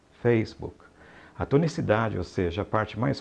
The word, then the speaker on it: Facebook: atenção entre nação correta a sílaba tônica neste caso é a primeira então diga facebook facebook a tonicidade veja parte